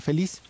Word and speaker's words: feliz: Feliz, que es una palabra aguda. Si fuera grave sería feliz, ¿no? Pero es feliz, pero termina en Z.